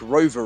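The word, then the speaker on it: Rowe: drivers saying it like Rover racing so I'm thinking the W is pronounced V do you know what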